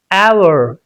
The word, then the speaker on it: hour: So it's pronounced our hour.